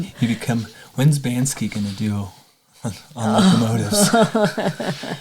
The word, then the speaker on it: Banksy: But I'm You become When's Bansky going to do on locomotives?